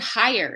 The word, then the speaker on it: hire: So is the word hire. If you're going to hire or fire someone, or if you're going